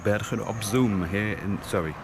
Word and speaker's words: Bergen op Zoom: the Dutch city of Bergen op Zoom Bergen op Zoom, here in the south of the Netherlands. Got to get that pronunciation right. Double O in Dutch is O and not U.